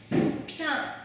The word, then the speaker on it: putain: Putain! Ma camarade française, je précise, Nina. No, we pronounce putain.